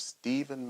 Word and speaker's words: Steaven: Steaven. My mother decided to spell Steven with an A. I say that it's spelled like heaven.